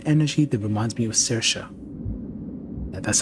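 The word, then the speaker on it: Saoirse: it is an energy that reminds me of cersa and that's how you pronounce that name by the way I pull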